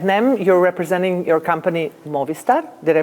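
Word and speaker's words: Mobvista: success here at nem you're representing your company Mo Vista did I pronounce it right very good yes okay so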